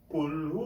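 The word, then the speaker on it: قُلْ: calf একটা আছে কফ কফ উচ্চারণ হবে কণ্ঠনালীর শুরু থেকে সেজন্য আমরা কিভাবে উচ্চারণ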